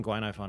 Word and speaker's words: Guinaifen: patch Glenn iPhone I'm just gonna be saying Guinea fun until I get an official pronunciation um as I said four star character